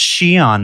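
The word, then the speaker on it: Xi'an: To stop the YouTube video and go immediately to comments and say it's pronounced Xion, Mark.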